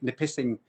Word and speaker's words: Nipissing: She's in Ontario just now, but they're moving up to like near the Lake Nipissing. That is the correct pronunciation of it.